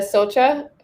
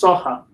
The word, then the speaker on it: Socha: here we have socha am i mispronouncing your last name uh it's soha thank you and uh